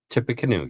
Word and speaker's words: Tippecanoe: Indiana State PD, Tippecanoe County Sheriff. Did I say it right? Tippecanoe, yes.